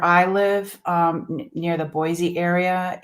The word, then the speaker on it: Boise: and I always say boy see wrong it's supposed to be what is it supposed to be I always say it wrong Boise Boise it's Boise people they're not happy with